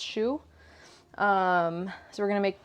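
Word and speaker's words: choux: do you say it c-h-o-u-x i think it's pronounced shoe um so we're gonna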